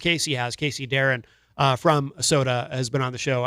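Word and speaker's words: Sotah: That is called Sunrise, and that is the brand new track from Soda, which is spelled S-O-T-A-H.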